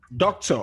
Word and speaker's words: doctor: For example, doctor, which of the syllables is stressed, please?